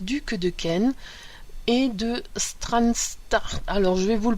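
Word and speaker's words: Strathearn: est edouward Auguste duc de Ken et de stranstart alors je vais vous le prononcer parce que vous l'écr vous l'pp pardon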